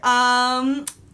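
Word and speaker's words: Aino: Okay, Ano, is that how you say it?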